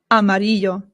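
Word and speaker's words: amarillo: Amario. Amario. Remember that the double L in Spanish makes a Y sound. Y. Y.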